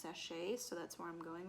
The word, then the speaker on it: Sacher: said it was a satcher cake but my inner great british bake off is telling me that it's pronounced sachet so that's where i'm